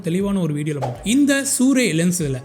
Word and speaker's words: Sirui: இந்த சூரிய லென்ஸில் இது வந்து ஆக்சுவலி ப்ரொனவுன்ஸ்ட் சூரியன் தான் ப்ரொனவுன்ஸ் பண்ணோம். இது எப்படி ப்ரொனவுன்ஸ் பண்ணுறதுங்கிறத அவங்கள்ட்ட டைரெக்டாகவே நான் மெசேஜ் பண்ணி கேட்டுட்டேன். சூரே இந்த லென்ஸ் வந்து ஒரு ஏபிஎஸ்சி ஃபார்மேட்டுங்க, சூப்பர் 35 ஃபார்மேட்டுக்காக தயாரிக்கப்பட்ட லென்ஸ்.